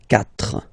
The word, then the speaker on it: quatre: So you get this Q-U-A, but then the sound that you will pronounce is K, okay? Quatre, quatre.